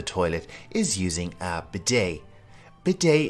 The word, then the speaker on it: bidet: Bidet is a French word, so we pronounce it a little bit differently than it looks.